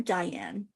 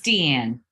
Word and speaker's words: Diane: Is it Deanne or Diane? It's Deanne.